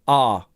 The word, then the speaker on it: our: pronounce that very quickly and with weak form pronunciation so instead of our it would just be our uh sorry R like our cat our cat our cat our